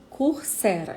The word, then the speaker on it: Coursera: O Coursera, que eu já falei aqui, Coursera, é do jeito que se pronuncia, né?